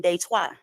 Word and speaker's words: Detroit: I'm up here in day twice so you said in French it's day twice you don't say Detroit you say they twice we have uh not